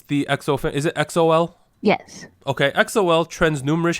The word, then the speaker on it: EXO-L: Anita, how do I pronounce the EXO fan? Is it EXO-L?